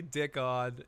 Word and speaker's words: Dickon: Everybody gets his name wrong. Yes, his name is actually Dickon, and let's do this.